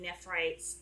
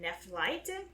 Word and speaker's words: Nephrite: it would be a jarring thing talking about pronunciation stuff so i have had a very hard time saying nephrite's name correctly and i didn't know why that i kept trying to call him nephlite and i realized it's because the geek dub